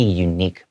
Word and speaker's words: unique: It's because unique, when you speak it, when you say it out loud, it sounds like it starts with a Y. That's why we say a unique personal style.